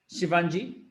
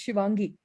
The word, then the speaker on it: Shivangi: You're pronouncing her name incorrect. It's Shivangi. I mean, What? it's okay. It's definitely okay. The G is like a D. Yeah, Gi. It's Shivangi.